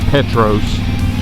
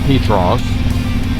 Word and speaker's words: Petros: A lot of people when they do the videos, they they pronounce it Petros. Uh but it's actually pronounced Petros.